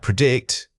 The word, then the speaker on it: predict: Predict. Right. Predict. Many people struggle with the stress pattern in this word. The correct pronunciation is to heavily emphasize the second syllable making it sound like predict.